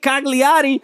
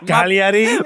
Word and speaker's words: Cagliari: but they can't beat Cagliari, who they drew 3-3 against. You're going to get so much hate from the Italians because you pronounced the G in that, by the way. Cagliari.